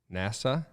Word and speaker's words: NASA: being close to NASA.